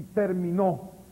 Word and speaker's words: terminó: Acentúeme término y terminó. En la N. Y la T.